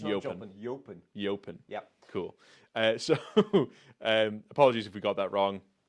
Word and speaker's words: Jopen: Not, it's spelt Jopen, Yeah. but it's pronounced Jopen.